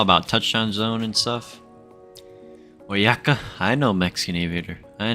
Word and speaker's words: Oaxaca: Oaxaca? LMAO, but I like your way better? Bro, that's Oyaka. Come on, dude. Why would there be an O if it's spelled or pronounced Oaxaca?